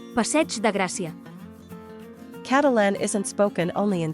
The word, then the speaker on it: Passeig de Gràcia: of Catalan is that the word ending with ig is pronounced like ch, so this name for one of the most important avenues in Barcelona is pronounced passeig de Gràcia.